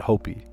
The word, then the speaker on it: Hopi: Here we pronounce it Hopi.